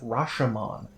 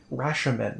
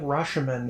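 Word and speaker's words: Rashemen: the Forgotten Realms uh land of Rashon or rashan not Rashon that's a that's a movie rashan I think is how it's pronounced and this has a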